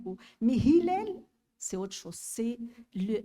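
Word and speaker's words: هلال: mon attention est le prénom du héros c'est Hilel il est si euh si un étranger le prononce il va le prononcer autrement ilel ou mais Hilel c'est autre chose c'est le la lune quand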